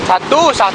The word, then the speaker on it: Satoe: Nggak tahu cara bacanya, pokoknya tulisannya SATOE. Satu. Oh ya, Satu. satu. OE itu dulunya dia ada kata U.